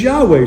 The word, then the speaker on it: Yahweh: His name is Yahweh.